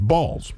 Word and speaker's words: Balls: So his name was Harry Balls, Balls, but it is pronounced Balls.